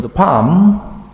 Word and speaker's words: palm: please notice the palm the L is not red it is silent so you only read P A M with the palm of the hand try the palm in laptop is there L red or not? Red or not? Silent.